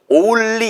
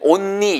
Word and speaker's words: only: 그러니까 얘도 only 이렇게 읽는단 말이에요. 많은 분들이. 아니면 only 이렇게 읽거나 only 아니에요. 절대. 보세요. 오운까지만 하시고요. 오운. 보세요. 보세요. 오운. 그 다음에 리 발음만 탁 튀겨주세요.